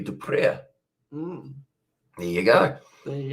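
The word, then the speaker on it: Du Preez: Whereas if it was DU space PREEZ, it would be Dupre.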